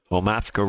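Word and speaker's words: Homathko: name of that river the homathco h-o-m-a-t-h-k-o omathko river and the homatra airstrip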